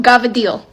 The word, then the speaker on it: cavatelli: Our first lesson, the letter C becomes a G. For example, this pasta. Cavatelli? No, Gavadil. Now you may be thinking, that's not how that's spelled. It ends E-L-L-I. It doesn't matter. That's how we say it.